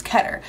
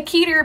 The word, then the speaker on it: Keter: is designated as ketter it's ketter i always want to say keter because it's spelled like peter and i'm like peter peter pumpkin eater but it's ketter so i got it i